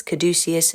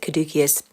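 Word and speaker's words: caduceus: messenger staff the kadus you should probably pronounce this caducus but I seem to pronounce it kadus and no one's going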